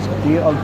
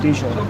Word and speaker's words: Dijon: Would it be this Dion? Dijon.